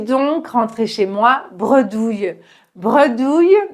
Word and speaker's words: bredouille: Bredouille, donc prononciation bredouille, douille, comme le yeu dans famille, bredouille, ça veut dire sans rien.